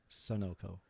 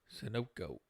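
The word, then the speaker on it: Sunoco: its dividend is 5.95% how do you say that name Sono yeah s u n o c o sonoko sooko maybe I've been pronouncing it wrong it's actually owned by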